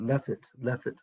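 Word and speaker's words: לפת: Lefet, lamed fe taf, lefet.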